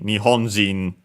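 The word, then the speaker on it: 日本人: So actually unfortunately you have to remember that uh Japanese as in a Japanese person it's accented differently and so on in nhonzin yeah all the other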